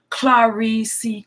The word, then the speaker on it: Clarisse: better quality videos also my name is pronounced Clarisse Iike a car karissa car thank you so much